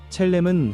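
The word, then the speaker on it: צלם: 여기서 형상이라는 말은 히브리어 발음으로 첼렘입니다. 첼렘은 하나님을 닮은 모습, 하나님의 성품과 영광을 반영하도록 지음받았다는 의미입니다.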